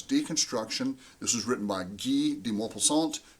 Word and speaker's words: Guy: This story was made to be analyzed using deconstruction, because deconstruction, this was written by Guy de Maupassant. His name is pronounced Guy, not Guy.